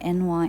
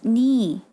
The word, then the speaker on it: Nee: I've been calling her NY and she never corrected me though. But then I saw it on her like about page. It's like, it's pronounced Nee.